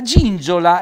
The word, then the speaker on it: gingiola: La gingiola, ecco, interessante questo, loro non hanno la Z come noi, la zinzola. Loro dicono la gingiola, è l'altalena.